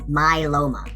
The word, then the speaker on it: myeloma: multiple like many but the second word is a little bit more challenging and it's pronounced myeloma can you say that with me ready my Loma my Loma and multiple myeloma is